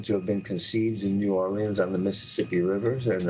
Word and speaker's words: New Orleans: Andrew Jackson uh defend New Orleans and that's the way you say it you pronounce the E and the a New Orleans uh I happen to have been conceived in New Orleans on the Mississippi Rivers